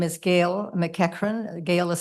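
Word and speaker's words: McEachern: my name is Gail mcran Gail is spelled g a i l mcran is spelled MC EA c h e r n so it looks like murn and your your I'm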